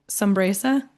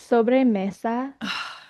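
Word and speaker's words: sobremesa: She talked about a sresa. Did I say it right? No. I believe it's so messa.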